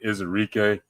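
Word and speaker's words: Ezeiruaku: I'm proud that I can pronounce his name. It took me a little bit. Donovan Izarike.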